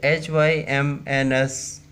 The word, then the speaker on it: hymns: The hymns, that means that HYMNS is pronouncing as hymns.